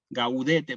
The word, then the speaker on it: Gaudete: La G con la A igualmente no cambia. Gaudete, por ejemplo.